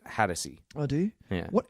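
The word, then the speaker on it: Hatosy: I think you pronounce it Hattersey.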